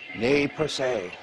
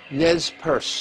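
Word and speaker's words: Nez Perce: she was part of I would always get this name wrong because I think of the French name which is something like nay per se that's bad my French in English it's called Nez purse tribe anyhow in any way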